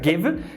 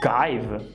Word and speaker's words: give: Sempre tem exceção, assim como na palavra give, que pela regra do Magic E deveria ser pronunciado give, mas não é.